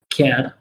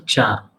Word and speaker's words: char: basically u.s and australia they do not pronounce this as a care but they pronounce it as a char you should know that